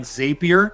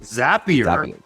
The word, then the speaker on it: Zapier: and your first-party online ordering system tools like zapier or excuse me you know what I've been corrected on this several times it's pronounced zapier you know it's spelled zapier and I've been